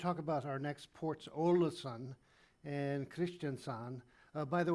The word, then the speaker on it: Ålesund: But today I'm going to talk about our next ports, Olasan and Christiansan. Uh, by the way, the Ola the A with a zero or that's pronounced O in case you wonder the spelling, but Norwegian has its